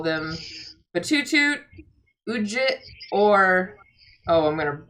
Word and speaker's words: Batutut: So it's Batutut. No. What? Batutut. Sorry about that. You lightly pronounced the last T, I think.